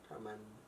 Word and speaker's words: Tormund: Tormund. With a D at the end. Tormund. You're not pronouncing the Tormund. D. Tormund.